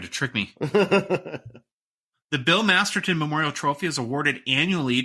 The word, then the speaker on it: Masterton: to pronounce it because every time I've read that name for an award I say Masterson I don't know why it's just how I am I know it's masterton but I have been corrected